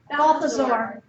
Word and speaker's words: Balthazar: Did I say it wrong? Balthazar. Balthazar. Thank you.